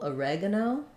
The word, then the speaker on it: oregano: so for oregano um we stress on the reg syllable oregano which means our o becomes more of a schwa uh no so thinking about it like uh rug uh no oregano um